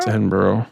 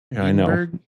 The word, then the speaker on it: Edinburgh: Edinburghough. Okay, good. To my knowledge. Yes, there's no O on the end of that. Edinburg. Edinberg. Edinburgh.